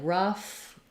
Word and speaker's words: rough: I think of rewriting the word tough or rough with those letters UFF because I associate those with that sound. And you'll see maybe in